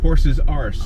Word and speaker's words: Horse's Ass: But So how did Julie pronounce it? Horse's arse. Oh, okay.